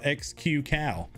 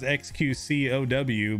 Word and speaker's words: xQc: doesn't matter call yourself xqcal you know his name is xqcow but xqcal like you you read that